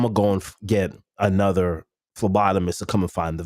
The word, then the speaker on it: phlebotomist: And the first phlebotomist was all like, dude, you're not drinking water and your jokes suck. You got to change it. So, Bobby, did you know the P is silent in lobotomist?